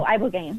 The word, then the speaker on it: ibogaine: How do you pronounce it? Which one? Oh, ibogaine.